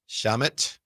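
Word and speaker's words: Shamit: Can you spell it for me, please? S H A M I T. Shamut.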